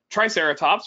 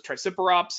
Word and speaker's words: Triceratops: Late Cretaceous North America Triceratops one of the iconic Late Cretaceous North American dinosaurs Tyrannosaurus which I've heard miss I've heard triceratops mispronounced as try super ops and I've heard tario